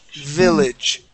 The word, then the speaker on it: village: This word is village. Okay. Almost. One more time. Village. Village. Okay. Village. Good. Good. Good. Much better with that V.